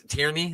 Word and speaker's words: Tierney: But yeah, other than Benny Blanco, even what's Tierney? That's how you say his name, right? Yeah. Tierney is back.